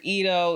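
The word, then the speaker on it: Leedo: it the next member is Lido or Ito is how you're really supposed to pronounce it my bias in the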